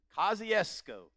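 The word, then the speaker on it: Kosciusko: is the only reason I know how to pronounce this word is because Oprah Winfrey is from there kesco Mississippi now let me explain something to you if you've never been to kesco don't get lost because I went through there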